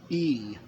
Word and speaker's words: y: in the Spanish language a capital Y by itself is pronounced e and in that language it means and so that was one